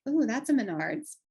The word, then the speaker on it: Menards: The pumpkin wood piece I found at Menards, which we don't have here, but I know how to say that word. I think, am I saying it right? Menards? Yep, Menards. Yep, Menards.